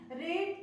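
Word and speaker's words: read: रीड की spelling नहीं बदली लेकिन प्रोनाउंसिएशन इसका बदल चुका है, रीड, रेड, रीड, ठीक है ना।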